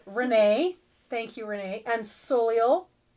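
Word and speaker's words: Soleil: We have Renee, thank you Renee, and Soliel, which by the way is French for sun. However, it's pronounced Solier.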